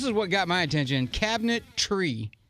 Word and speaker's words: Cabinetree: what got my attention cabinet tree okay but it's spelled TR EE to me that's brilliant now